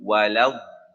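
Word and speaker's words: ولا الضالين: two tashdeeds here and you can't stretch the mad and forget to pronounce the tashdid. So it would be waladhalin, right? There is a tashdid on the dad and a tashdid on the lam.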